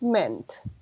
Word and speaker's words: meant: But yeah, the past is meant. Sí, presten mucha atención con la pronunciación. Es como una E y al final la T.